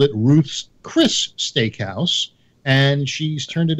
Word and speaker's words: Ruth's Chris: hardly anybody ever does they go Ruth's Chris's but it's Ruth's Chris now why is it